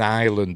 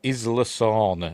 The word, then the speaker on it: Isla: Anyway, we begin over the ocean and we see that this is an island. This is Isla. Or is it Isa? I've had it pronounced both ways. I'll say Isla.